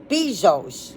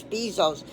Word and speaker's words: Bezos: billionaire, Jeff, and it's Bezos. Yeah, Bezos. It's B like C, because I looked up, how do you pronounce Bezos? And it said it rhymes, the B rhymes with C, like I can see.